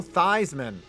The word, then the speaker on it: Theismann: but plunkett outplayed joe theismann who he had also beaten out for the heisman back in 1970. these men changed the pronunciation of his last name to rhyme with heisman and he still did